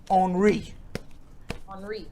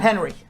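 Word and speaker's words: Henri: oh it is dairy tropical storm onri not henry no the french just had to just had to make sure that we were pronouncing it all right and in vaccine news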